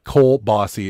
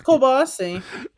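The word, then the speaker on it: kielbasa: Cole Bossy is a legit pronunciation. It's Cole Bossy.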